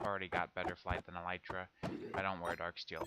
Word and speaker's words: elytra: to get a pair of elytra or elytra, however. I think I'm going to say elytra. Everyone else seems to agree that that's how it's said. Um, I wanted to get a pair of elytra.